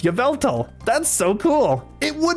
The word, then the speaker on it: Yveltal: No, I had no idea that was pronounced Yveltal.